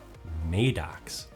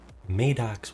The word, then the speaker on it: MADOX: to rewatch Maidex and I've been pronouncing it wrong. It's Maidox one. Go figure. Maddox one, not Maddox, not Madox because it uh it's an acronym. Not that that would make a difference for the pronunciation.